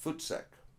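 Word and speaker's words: voetsek: out of here it it comes from the dutch originally fort sec forth say i it sounds like the word foot sack there used to be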